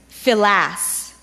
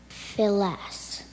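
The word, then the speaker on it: filasse: Your word is philas.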